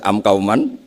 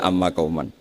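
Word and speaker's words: أمّ قومًا: tahu mungkin kita pas belajar baca am Kauman kemudian dibenahi guru ternyata bacanya Amma Kauman begitu seterusnya sehingga ada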